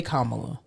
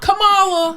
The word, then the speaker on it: Kamala: not difficult to pronounce if you can say Pamela you can say Kamala it's not Camala camela it's not camela you just said Pamela